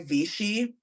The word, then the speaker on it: Vichy: And it's by Vichy.